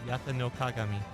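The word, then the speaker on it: 八咫鏡: They're all inspired by Japan's Imperial Regalia, which I had the lovely Ryu read the pronunciations for. Reflector Yata noagami.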